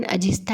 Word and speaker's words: अजिष्ठा: गुफाओं से कुछ किलोमीटर दूर अजिष्ठा नामक ग्राम है, जिसका मूल उच्चारण अजिस्था है।